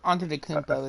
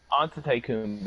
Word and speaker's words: Antetokounmpo: Antetokounmpo is how you say it. Antetokounmpo.